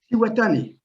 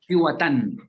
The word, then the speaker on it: Cihuatan: How do you pronounce it? Cihuatan? Cihuatan. Okay. Yeah, Cihuatan.